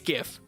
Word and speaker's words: GIF: don't understand but anyway it's gift okay I've looked it up it stands for graphic interface pronunciation wherever the it is and it's gift how do you say graphics graphics not draft picks and it makes my